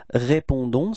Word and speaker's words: répondons: So as usual, final S is not pronounced, okay? So the only thing that is pronounced at the end, it's this O-N, and it's on, on, okay?